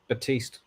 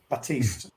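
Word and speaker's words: Baptiste: obviously one Fiji um Baptist has a silent P by the way batist batist yeah okay sorry I'm not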